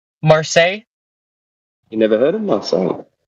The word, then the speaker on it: Marseille: bit closer to where Marcel is it looks like there's like an airport that's off some uh oh actually outside sorry oh hold on what's the pronunciation must say marsai okay sorry Marseille you never heard of